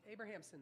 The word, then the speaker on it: Abrahamson: Abrahamson, like Abraham Lincoln.